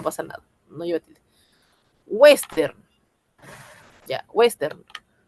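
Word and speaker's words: wéstern: Western. Ya, western. Western, una vez más, es una palabra grave.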